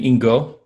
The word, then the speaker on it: Ingo: and here call me ingo which is like like bingo and they'll be very